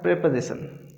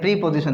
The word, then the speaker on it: preposition: तो एक तो इसके प्रोनाउंसिएशन पे ध्यान रखना है, प्रीपोजिशन नहीं है, ये प्रेपोजिशन होता है।